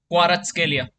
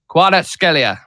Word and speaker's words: Kvaratskhelia: Kvaratskhelia. Kvaratskhelia.